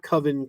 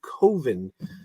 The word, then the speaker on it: Coven: And that's how he pronounces it, not Coven, Coven.